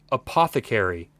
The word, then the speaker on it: apothecary: Did she she just pronounced that apath? I've always known that word as apothecary. Apothecary.